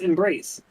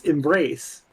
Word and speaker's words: embrace: it's Embrace I mean it's a soft m not a hard M but no it's just the emphasis is on the second syllable of the word not the first Embrace I might start